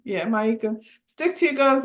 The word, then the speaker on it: Maika: Yeah, Maika.